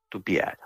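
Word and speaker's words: Tupyara: By the way, Tupiara is spelled with a "y". Tupiara.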